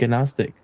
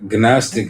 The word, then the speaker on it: gnostic: I don't say G. No, no G.